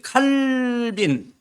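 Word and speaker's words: Calvin: 자, 오늘 설교가 이 전통적인 소위 칼빈, 원래 영어로 이제 칼빈이라고 하는데 그 프랑스 말로 칼뱅 그래요. 근데 저는 옛날 배운 사람이 돼가지고 칼뱅이 아니고 칼빈이라고 자꾸 발음이 되는데 영어 발음은 칼빈이에요.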